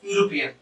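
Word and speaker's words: European: তাহলে কনসোনেন্ট, যেহেতু ই এর ই এর উচ্চারণ যদি ভাবেন এর মতো হতো তাহলে কিন্তু এক বসতো, বাট ই উচ্চারণ হচ্ছে কি ইউর মতো, ইউর মানে ওয়াই ও ইউ ডাব্লিউ না কিন্তু ইউ এর মতো।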